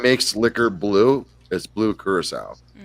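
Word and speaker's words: Curaçao: Liquor Blue is blue curacao you probably see it as Curacao but it's not how it's pronounced but that is actually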